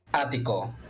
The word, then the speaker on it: ático: Ático. Attico.